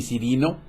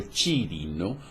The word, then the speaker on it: Cirino: Pero resulta que ni Cirino, yo debería pronunciarlo Chirino, fue gobernador de Siria